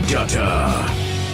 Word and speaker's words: Dutta: Here is your host, Dutta, the. Hey everybody, welcome to the Show. It's Dutta, like Butta, for those who don't know how to say it.